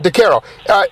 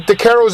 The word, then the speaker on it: DeCaro: idea that like you and DeCaro, am I pronouncing his last name correctly, by the way? DeCaro. DeCaro. Like with DeCaro's Italian Graffiti album, for some reason, I bought that album like 10 years ago.